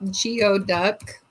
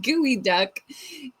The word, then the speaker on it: geoduck: All right, let's look up geod duck for those of us that don't know. Geod duck. Oh, gooey duck. Okay, it's pronounced gooey duck.